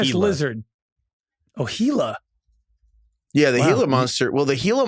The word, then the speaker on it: Gila: And it's also I'm pretty I'm pretty sure it's pronounced Hela.